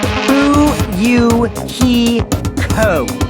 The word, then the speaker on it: Fuyuhiko: last name is my first name is pronounced who you he ko i'm still an inexperienced